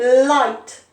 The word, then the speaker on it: light: make an i sound number two light le i l i light and it's got that i sound i g h spelling i g h i